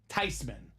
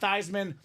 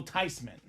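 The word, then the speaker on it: Theismann: okay with it it's actually supposed to be pronounced tyman so it was a lie the whole time it wasn't thean it's not Theisman the proper pronunciation is actually Joe tysman whatever you want to call him he's a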